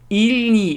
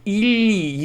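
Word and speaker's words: или: E needs to affect it so that ili, like ili, you have to kind of o has to kind of go like this. Your tongue has to go like this and touch the middle part has to touch the roof of your mouth.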